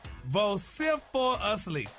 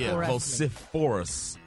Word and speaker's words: vociferously: and I'm going to do my best to pronounce it. So, y'all ready? Here it goes. Now, the word today is vociferously. What? For us. Yeah. Vociferous.